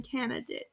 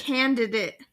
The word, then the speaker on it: candidate: southern no I don't do you pronounce the d in canidate candidate no I don't it's not a canidate candidate I do not it's